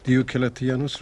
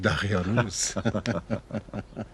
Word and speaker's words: دیوکلتیانوس: هنوز نمیتواند درست تلفظ کند. دیوکلتیانوس را میگوید دقیانوس.